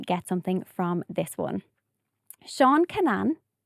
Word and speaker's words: Seán Kinane: Seán Kinane. Seán Kinane. Am I pronouncing that?